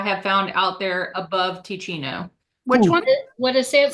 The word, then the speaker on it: Teccino: I recommend Ticino. It's spelled Teccino.